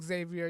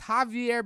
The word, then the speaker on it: Xavier: It's not Xavier. You know how they pronounce this name? It's Javier Becerra.